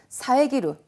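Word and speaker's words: 遮る: 비슷한 발음으로 사에즈루 하면은 새가 지적이다라는 다른 뜻이 돼버려요. 발음의 주의입니다.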